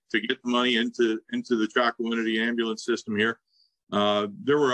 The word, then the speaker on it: Chocowinity: article, and I'm going to probably butcher the pronunciation here, but the town of Chocowinity.